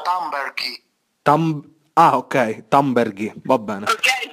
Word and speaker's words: Thunberg: Sono d'accordo, semplicemente volevo puntualizzare che il nome di Thunberg in realtà si pronuncia Thunberghi.